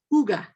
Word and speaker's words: hygge: pronounce it the way that we're taught to pronounce we would say higgy right but it's it's pronounced ooga okay it's the cozy blend and i love